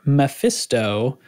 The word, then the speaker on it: lvlePhisto: The Comfy Cannon Cruise is being hosted by Commander Mephisto, and that's spelled lvlePhisto. He told me how to pronounce it because the LVL is to look like an M, right?